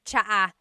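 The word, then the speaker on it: tsaa: And it's spelled T S A. Cha. Cha. That's such a Tagalog spelling. I love it. There's the ts sound and then the double vowel uh pronunciation.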